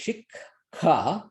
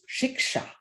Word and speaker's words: শিক্ষা: So they would actually say shikha. আমরা উচ্চারণ করি শিক্ষা, we pronounce it as if খ together, but actually it's shiksha.